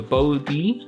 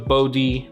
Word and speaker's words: Bode: to be going over the bod is how you pronounce it if I'm not mistaken I've seen people say it's kind of like saying OD cuz the prices are